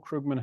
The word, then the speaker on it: Krugman: if you ask Paul Krugman himself he'll say it's more like the the oo sound is more like as in book so it's like Krugman